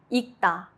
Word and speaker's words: 읽다: Examples: 읽다, to read. Only the 기역 sound is used.